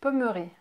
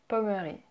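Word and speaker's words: Pommery: Next is Pommerie. Pommerie. Pommerie. The Y is usually pronounced E in French.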